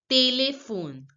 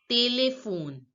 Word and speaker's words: téléphone: Téléphone. Téléphone. Now here the last Téléphone. E is not pronounced. Téléphone. Téléphone. Telephone is pronounced as téléphone. Téléphone. The last E is not pronounced.